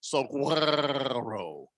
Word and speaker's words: Saguaro: I'm doing it that way because people are arguing with me on how to pronounce that. So officially, the Cactus is a Saguaro.